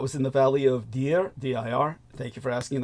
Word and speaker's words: Dir: Yes, he was in the Valley of Deer. That's spelled D-I-R, but it's pronounced deer like the animal.